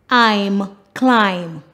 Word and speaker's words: climb: Words that end with MN, the last letter is silent, the N.